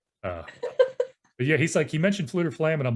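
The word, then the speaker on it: Fflewddur Fflam: Jetser mentioned Fluter Flam, which is how I pronounce it. It's got multiple F's in it.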